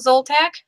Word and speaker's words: Zoltack: And today we have Nicole Zoltack. Did I pronounce that right?